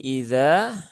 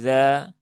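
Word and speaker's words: إذا: Nah, ini juga harus jelas ya, ada batasannya bukan wallaili dza. Karena masih banyak yang membaca seperti itu. Wallaili yasr. Yasrnya sudah terayun. E yas rnya hilang. Jadi salahnya dobel-dobel. Nah, maka perlu diperhatikan hamzahnya harus dibaca dengan tahqiq ya dengan jelas.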